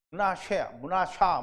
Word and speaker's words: 므낫세: 므낫샤 뭐 이렇게 해야 돼요. 그러니까 발음은 어떻다?